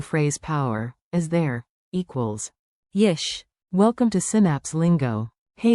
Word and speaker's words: יש: יש. Like, yesh, one beat. Whisper it like a shop secret. יש.